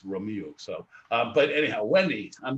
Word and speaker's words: Romeu: Oh, because I want to say Romeo, but I know Romeo. It's Romeu.